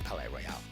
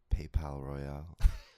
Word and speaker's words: Palaye Royale: That is Palaye Royale. That's the place. That's the place that your name comes from. So now that's spelled in the French way.